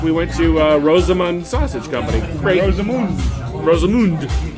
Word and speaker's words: Rosamunde: Is that how you say it? Is it Rosamund or Say Rosamund? Rosamunde. Yeah, Rosamund. Rosamund. Little put a little flair on the end there, Kevin.